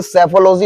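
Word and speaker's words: psephology: मैंने कहा बेटा पी सेफोलॉजी नहीं होता, ये सेफोलॉजी होता, पी साइलेंट है।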